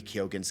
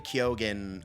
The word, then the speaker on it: Keoghan: For anybody who hasn't seen it, basically, Barry Keoghan, I think that's how you pronounce his last name, is Keoghan, but he is an